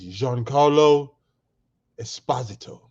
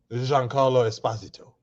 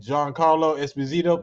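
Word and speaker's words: Giancarlo Esposito: car no no my Gody his name is Jean Carlo Esposito Jean Carlo Esposito that's how you pronounce his name now you know that's been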